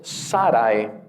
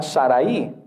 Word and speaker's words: Saray: de Abraham era Saray ahora noten que es sarae si tuviese acento en la i sería Saraí pero no es Saraí es Sarai ahora es un diptongo no es Sarai necesitaría también un acento es sarae Y entonces así como